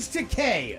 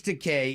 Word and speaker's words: Takei: Gay rhymes with te.